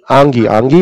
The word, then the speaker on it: आंगी: आंगी, your name is आंगी, एम I pronouncing it right? आंगी, well done.